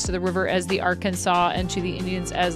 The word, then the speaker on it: Arkansas: Arkansas not pronouncing the s at the end.